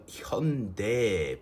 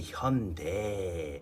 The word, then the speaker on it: Hyundai: joking about this because the pronunciation should be Hyundai. I would have taken Hyundai. It's what most people pronounce it as, and it makes sense. It ends in AI.